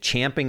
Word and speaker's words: champing: Props to Roden or Road Dog for saying champing at the bit. Oh yeah, that's the proper way to say it.